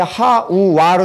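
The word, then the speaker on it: חַוָּה: 우리는 보통 하와라 그러잖아요 한글 성경에서는 는 하와 이렇게 하잖아요 근데 여기서는 히브리어는 이게 하와에 하우 와로 이렇게 발음이 돼요 자 그러면 이게 뭐예요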